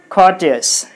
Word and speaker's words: courteous: So you put the stress mark here. Courteous.